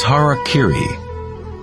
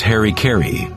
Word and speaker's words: harakiri: one form of ritual suicide or seppuku was harakiri was often mispronounced as Harry Caray it means to impale one's Hara thereby cutting